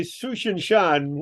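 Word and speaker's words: Tsuchinshan: you want a pronunciation I say sushan Shan one I think that we'll go with that yes all right that sounds Chinese to me it Chinese it means purple mountain and that's one of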